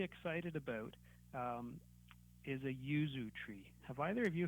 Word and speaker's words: yuzu: for our listeners yeah so Yuzu is y u z u okay just like it sounds and I found that